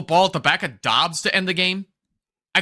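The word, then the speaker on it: Doubs: Why can't Romeo Dobbs pronounce his last name like Dubes? It would just sound so much cooler if he did that.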